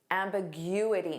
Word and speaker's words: ambiguity: Ambiguity. Notice that syllable stress.